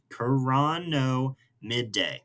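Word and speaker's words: Chironomidae: So this coronomid coran corono midday. There we go. Um had a one too many syllables there.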